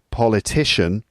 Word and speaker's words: politician: that that person noun that's politician so politician so the word stress is now on the third syllable and then uh the